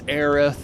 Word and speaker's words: Aerith: her name was always Aerith and it sounds like earth and it goes correctly with the Japanese pronunciation of the kanji and but Aerith uh i I so much prefer Aris oh you say eros